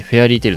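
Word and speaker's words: 妖精の尻尾: 精の尻尾と書いてフェアリーテイルなわけです。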